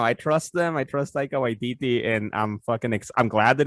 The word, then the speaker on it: Taika Waititi: It's Taika Waititi.